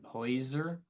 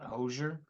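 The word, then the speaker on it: Hozier: Go to Hoyser. I guess that's how Oh. he pronounces it. Not Hosier. Oh. Like it's actually written? No, like he physically said Hoyser.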